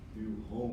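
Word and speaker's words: NUHOMS: One of the most complex is Nuums. I hope I pronounced that right. New homes. There's no E in it.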